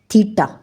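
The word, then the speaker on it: θ: Symbol होता है, angle, और इसको हम कैसे प्रोनाउंसिएशन करते हैं इसकी, थीटा।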